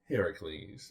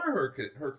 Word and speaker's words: Heracles: Heracles. Okay. Or Hercules. Hercules. Heracles is the Greek version. The Greek pronunciation.